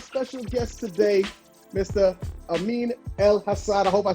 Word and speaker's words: Elhassan: Amin Elhassan. I hope I said that right. Elhassan. Close enough. There you go. Close enough. Elhassan. How you say it, Albie? Elhassan.